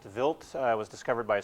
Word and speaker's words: Wild: from this comet called Vilt 2. Uh I know it looks like it's spelled wild but it's pronounced Vilt.